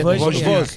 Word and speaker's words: Wozniak: Simon Wozniak. Yeah, It's not bad. Wozniak is meant to be. Wozniak. Like a V.